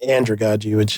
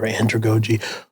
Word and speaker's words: andragogy: What I've like studied and, what I work in is andragogy, or andragogy. However you want to say it. Yeah, it's spelled the same.